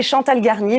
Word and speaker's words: Chantal Garnier: Et Chantal Garnier, bien évidemment, experte sur le futur du travail chez Planning Strat Station.